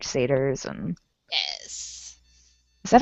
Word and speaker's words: satyr: It has a bunch of other mythological creatures, like satyrs and Yes, is that how you pronounce it?